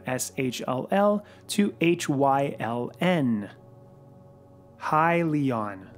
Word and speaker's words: Hyliion: will change from Sh ll to hy Ln hi Leon not he Leon by the way which I've been hearing a lot of people mispronouncing side note if you don't know how